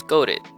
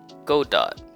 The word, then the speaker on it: Godot: up choosing to use goadit go dot go do well apparently no one knows how it's pronounced for sure but i'll stick to the general consensus of godot i chose godot because